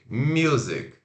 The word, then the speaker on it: music: significa música após 24 sílaba tônica mi rápido o meu Z e curto k z music agora vou falar uma